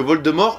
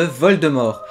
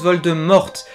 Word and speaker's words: Voldemort: l'origine du nom de vol de mort tout d'abord beaucoup d'anglophones prononcent vol de morte alors que nous les francophones nous le prononçons avec le T muet et ben figurez-vous que nous avons raison comme tu le sais